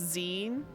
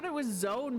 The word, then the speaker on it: zine: Okay, magazine on the ground that pronounced zine as in short for magazine. Oh, got it. Okay, I thought it was zone, but just like misspelled or something.